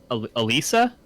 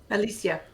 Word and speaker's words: Alicia: Is it Elisa? Alicia.